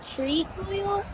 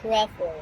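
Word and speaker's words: Trefoil: you say that usually some people call it tree foil okay but it's really pronounced Tre foil I'm glad we clar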